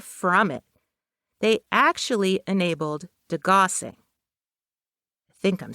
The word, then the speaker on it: degaussing: They actually enabled degaussing. I think I'm saying it right. Degaussing.